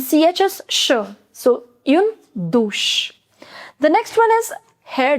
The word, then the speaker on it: douche: Shower is une douche. Une douche. OU in French is pronounced as O, so it becomes do, and CH is sh. So, une douche.